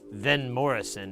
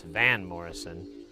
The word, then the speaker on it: Van Morrison: trilo quism not Vanquis it's not Vin Morrison it's Van Morrison but uh you know